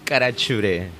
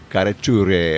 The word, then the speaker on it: Carachure: my buddy Isaac Isaac I can't I can't pronounce his last name so Isaac what's your last name kachur kachur okay all right sounds Italian man all right